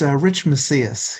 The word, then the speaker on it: Macias: Irene Coe just logged off a few moments ago, but Rich, is it Rich Macias or Macias, Rich? I want to make sure we get the pronunciation correct there. Oh, hi, Gary. It's Rich Macias.